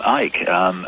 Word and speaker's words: Icke: They called me Icke. They called you Icke? Yeah. I mean, you don't pronounce the C.